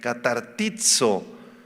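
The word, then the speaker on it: καταρτίζω: Viene de la palabra griega catartizo, con acento en la i. catartizo.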